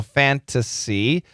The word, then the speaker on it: fantasy: The N can cancel the T, so fantasy, but she does say fantasy.